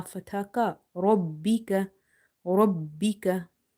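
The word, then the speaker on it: رَبِّكَ: Robbi ka fatha ka. Robbika. Robbika. Emphasize on ba in order to pronounce it twice. If you say Rabbika, you will miss one ba.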